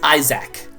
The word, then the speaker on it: Isaac: And in case you're wondering, the word that rhymes with hack is Isaac.